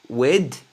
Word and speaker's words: with: Si vous y arrivez pas, bah, laissez tomber et prononcez le TH D, comme un D.